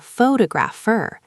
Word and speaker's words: photographer: But if you take photos professionally, you are a photographer. The stress moves to the second syllable, which changes every vowel sound in the word.